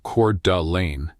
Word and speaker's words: Coeur d'Alene: Located in the Idaho Panhandle, Coeur d'Alene, pronounced Coeur d'Alene, is the kind of town where retirement doesn't feel like winding down.